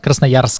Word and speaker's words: Krasnoyarsk: Krasnoyarsk.